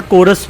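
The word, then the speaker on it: chorus: The word कोरस which begins with the letter CH is pronounced with the के sound या ख sound. तो जो वर्ड कोरस है ये लिखा तो CH से जाता है लेकिन CH की च की बजाय क की आवाज़ देता है।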